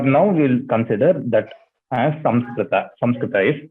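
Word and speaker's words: संस्कृत: It's not Sanskrita, it's Samskrita. Anyway, the third pronunciation which you told, there also, it is not Kunkuma Nga.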